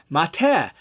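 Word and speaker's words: מַטֶּה: verse in Genesis 47, they added the vowels I and A, mitah, while the Septuagint translators, who translated it before Christ, they read it as staff, mateh. Exact same consonants, just different pronunciation.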